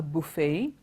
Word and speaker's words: buffet: we all know today it is not pronounced as Buffett it is either there are two variants you can you can say it's either a buffet or a buffet both of that is fine the T is silent and that is the most important thing this is primarily because